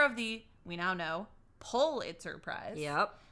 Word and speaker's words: Pulitzer: the we now know Pulitzer Prize yeah and not pule it sir don't say it like that you'll sound like an yes um we both